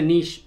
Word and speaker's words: niche: There is a niche for everything, or a niche, apparently that's how you say it in America.